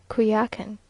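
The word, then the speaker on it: Coyoacán: early in the morning to kuya walkin now pronounced qui akan which is almost a continuation of the village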